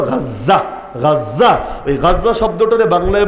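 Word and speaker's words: غزة: লেখা দরকার হলো গাজা বাংলায় বলে গাজা আরবিতে উচ্চারণ হলো গাজ্জা গাজ্জা ওই গাজ্জা শব্দটারে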